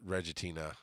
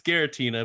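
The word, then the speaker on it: Giratina: then tier 5 is Reggie Tina they spell it wrong here it's it's Gera Tina but yeah I thought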